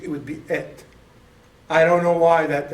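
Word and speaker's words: את: But here it is, tav, that's our T. So you would say et.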